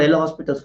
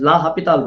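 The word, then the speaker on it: L'Hôpital: It is not actually called L'Hospital's rule. It is L'Hopital rule. Okay. We pronounce it like that.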